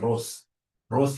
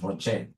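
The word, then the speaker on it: ROCE: whenever I see Rocher please don't pronounce this as Ros is my sister Ross is your mother professionally we pronounce this as Rocher whenever I see this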